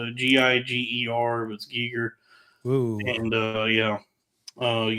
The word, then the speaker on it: Giger: And the cover for the album is a piece by HR Giger, I believe his name is pronounced Gi- Giger.